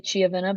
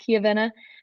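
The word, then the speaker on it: Chiavenna: finals in kavena Italy I was gonna say chiaa but it's uh pronounced kavena and this upcoming weekend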